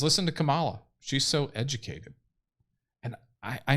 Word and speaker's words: Kamala: Terry Huber says, listen to Kamala. She's so educated. And I know I call her Kamala because I put the accent on the wrong part of the word.